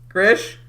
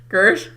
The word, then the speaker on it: Kirsch: like oh my god I thought I had an I in it my gosh right ER Sh I'm I pronounced fine